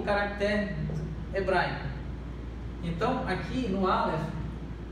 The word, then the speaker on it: Aleph: Nominá-la como Aleph. O nome dessa letra, a pronúncia é Aleph.